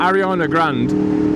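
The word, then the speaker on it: Ariana Grande: to realize that um Arana Grand that's how her name's pronounced by the way like she's um she's backed off that fake T quite a bit it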